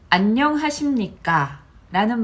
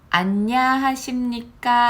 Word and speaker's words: 안녕하십니까: 것의 차이를 좀 아시겠어요 안녕이라는 발음이 사실 되게 어려워요 받침도 있죠 그리고 어 안녕 입을 굉장히 많이 움직여야 하는데 안냐하십니까 아니면 안녕하십니까 이렇게 발음하시는